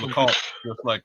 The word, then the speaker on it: Lacombe: So it's Lacombe, just like I thought. So that is, that's it. French Canadian French, nonetheless.